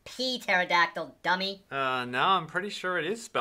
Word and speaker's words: pterodactyl: Hey, it's just pterodactyl, not pee pterodactyl, dummy. No, I'm pretty sure it is spelled with a P. It is spelled with a P. The P is silent.